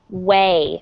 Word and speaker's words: weigh: and that is to weigh okay so it's spelled kind of strange but i want everyone to say after me it's pronounced exactly the same as the word way w-a-y okay so if